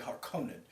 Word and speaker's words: Harkonnen: you say hearkening so in the original david lynch they said harkonnen and this one they say hearkened it because i heard